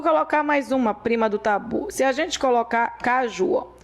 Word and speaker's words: tabu: Bom, se você, por exemplo, você tem algum tabu, tá? Se você vai falar de tabu, tabu é uma palavra oxítona, mas não é uma palavra acentuada, tá? Então, a sílaba forte de tabu é a última.